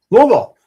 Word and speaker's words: Louisville: Louisville. Did I say it the right You way? did. I'm so proud of you. You got to cut out like half the syllables.